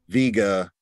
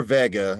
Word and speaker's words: Vega: in a location where Viga or Vega as it's pronounced um sat right here